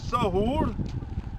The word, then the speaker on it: Sahur: Zahor is a Tibetan mispronunciation of Sahur, and that is Mount Halesha, where the two spent 3 months in a cave.